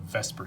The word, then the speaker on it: VSEPR: talking about something called vesper theory i'm fully aware that that does not actually spell the word vesper but most chemists pronounce it that way this is a this